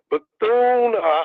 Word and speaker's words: Bethune: So let me just tell you now, Bethune.